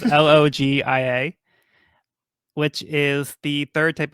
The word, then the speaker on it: Logia: that the Rumble fruit is the most powerful login type. Did I say that right? Did I pronounce that right? So it's a Logia. Logia? Mm-hmm. Oh shit, I just wrote that down wrong. Yeah, so it's Logia, which is the third type of devil fruit